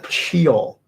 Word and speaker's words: Sheol: Sorry, Sheol. Learning how to pronounce stuff again very quickly.